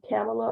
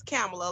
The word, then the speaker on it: Kamala: It is Kamala, like our vice president.